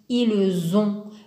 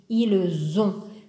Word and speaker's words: ils ont: nous avons ils ont ils ont le thé à la fin il est en bleu car il ne se prononce pas il est muet mais quand on lit